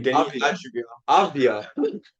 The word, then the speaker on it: Avdija: Denny Avdia. Avdia. Avdia. It's Avdia.